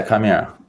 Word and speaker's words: Chimera: Am I pronouncing that right? Yeah, Chimera.